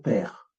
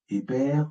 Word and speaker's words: pr: On va mettre le E muet entre les consonnes. On va dire père. Et non pas épère ou épré ou pré. Non, c'est père.